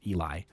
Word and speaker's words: Eli: Eli, because they get that it's the only sensible pronunciation of that. I guess Elijah almost, because J makes the J, and Elijah could end with H, I guess, but I'm just Eli.